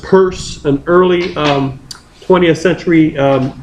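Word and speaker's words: Peirce: a thinker called CS p e i r c e pronounced purse an early um 20th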